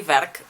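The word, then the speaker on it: werk: screen for you and i want to say verk because this is how the dutch say work the this is their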